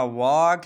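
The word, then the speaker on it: walk: L आया है तो इसलिए हमने L को साइलेंट रखा। इसी तरह कॉफ है, इसी तरह वॉक है, टॉक है, कुड है और शुड है।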